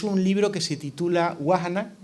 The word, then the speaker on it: Vahana: titula wahana o wahana es difícil de pronunciar bahana si lo pronunciamos en en castellano hemos llamado un amigo experto para que nos diga exactamente Cómo se pronuncia para no meter la pata ya que se iba a grabar me han dicho Eh Así que guajan es el título del libro significa lo cuenta